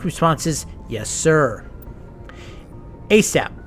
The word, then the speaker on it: ASAP: response is yes sir asap pronounce a sap an acronym for all